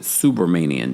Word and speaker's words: Subramanian: Subramanian, I think that's how the pronunciation. Look, it took us 29 days to get here, but it's that's how Inner City Press pronounced it. Subramanian. That makes more sense.